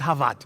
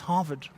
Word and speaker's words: Harvard: professors harvard it's not hawat it's harvard you must lift it at the end harvard the d is